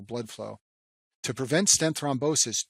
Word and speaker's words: thrombosis: The second stent complication is called stent thrombosis, and this name rhymes with restenosis, but it's a completely different process.